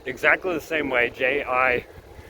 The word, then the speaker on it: Jibril: They pronounce it Jabril, right? And it's spelled exactly the same way, Jibril, right?